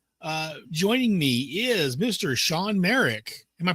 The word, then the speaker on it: Shawn Marek: Sean Merik. Am I pronouncing that correctly?